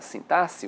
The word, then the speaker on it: sintaxe: A sintaxe, a pronúncia correta, a sintaxe, o X, né? Ele vai ter essa pronúncia, querendo ou não, a análise sintática, a análise dos termos da oração.